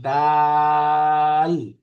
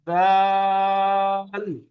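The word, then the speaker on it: دال: জিম হা খ এরপরের দুইটা অক্ষর ডাল এই দেখেন এটাও একটু বেশি টান হবে ডাল এটা একটু নরম করে দাল দাল র এক আলিফ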